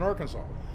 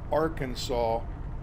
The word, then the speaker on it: Arkansas: Okay, but in Kansas, it's pronounced Arkansas River. Okay, and it's Arkansas everywhere else, but in Kansas, it's the Arkansas River. Okay. So Kansas got to put their emphasis on the Kansas part.